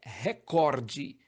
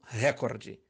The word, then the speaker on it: recorde: No segundo caso, a pronúncia correta é recorde e não recorde.